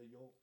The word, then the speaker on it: yolk: If you say yolk, there's no L heard.